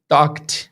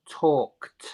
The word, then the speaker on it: talked: Okay, so for example, the word talk in the past, the right pronunciation would be talked, right? So talked.